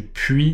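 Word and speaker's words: puits: ce qu'on appelle un puit d'accord ça s'écrit d'ailleurs toujours P u i t S même si c'est un puit il y a un S donc voilà en fait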